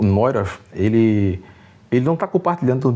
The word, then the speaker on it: Neurath: O Otto Neurath, eu acho que é Neurath que se pronuncia, né.